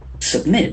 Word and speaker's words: submit: Submit. Submit. There are two syllables, accent force on the second.